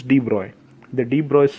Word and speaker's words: de Broglie: de Broglie said deploy the pronouncation is de bruyne the de bras said